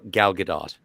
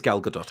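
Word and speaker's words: Gal Gadot: since 1986 and also her name is pronounced G galgadot it is galgadot I apologize about that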